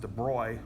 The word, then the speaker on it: de Broglie: So de Broglie, or I suppose in French his name's actually pronounced de Broglie, which I find odd to pronounce that way.